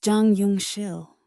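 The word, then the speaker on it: Jang Yeong-sil: His name was Jang Yong Sil, pronounced Jang Yong Shill.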